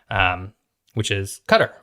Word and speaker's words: Qatar: Which is Qatar, or as a lot of people pronounce it as Qatar.